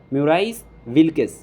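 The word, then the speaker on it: Maurice Wilkes: और इसको जो डिज़ाइन किया गया था, ये हमारे पास एक आदमी का नाम है सर MAURICE, ये आप इसका स्पेलिंग लिख लें, म्यूराइस विल्किस, WILKES, ये एक नाम है इनका।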